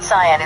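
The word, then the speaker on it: cyan: update oh the word Sayan is pronounced as s in American English with the stress on the first first syllable it rhymes with lion c and Zion you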